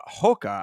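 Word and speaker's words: Rocha: or excuse me Lucas uh Hoka I believe is how it's pronounced you know Brazilian pronunciation but Clayton Carpenter versus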